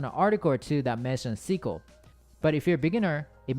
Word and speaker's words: SQL: honorable mention number three Seco with some people pronounce as SQL if you search for what programming language to learn you might run across on an article to that mention sequel but if you're beginner